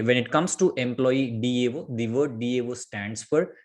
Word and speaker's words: DAO: it comes to employee Dao the word Dao stands for data access object and few people pronounce this one as Dow so alog together we